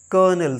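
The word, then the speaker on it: colonel: होता है गोबर नेक्स्ट कर्नल सी ओ एल ओ एन ई एल इसमें माय डियर लर्नर्स आर नहीं है लेकिन फिर भी हम इसको क्या पढ़ते हैं कर्नल कर्नल ना कि कोलोनल या कुछ और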